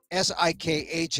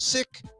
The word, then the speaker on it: Sikh: S-I-K-H is pronounced Sikh, not Sikh, because they don't want the homonymal thing going on where you think, oh, they're seekers. No, they're not seekers.